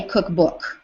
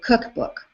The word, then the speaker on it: cookbook: We don't say cookbook. We say cookbook.